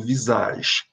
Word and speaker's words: visage: Observe que eu não estou pronunciando o E do fim, né? Então, digo visage.